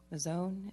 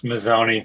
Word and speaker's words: Mazzoni: And I have Mazzone. Is that how you say it? It's Mazzoni. It's Mazzoni, okay.